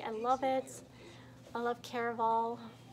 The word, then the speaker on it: Caraval: I actually finished, I say Carnival, it's Caraval. Like, I keep saying it wrong.